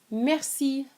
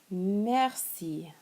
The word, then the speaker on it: merci: So one phrase that's very important is merci. Merci. Merci.